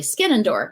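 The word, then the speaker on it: Skenandore: or how do you say amanda's name currently skinendor right um who's got the beautiful novel between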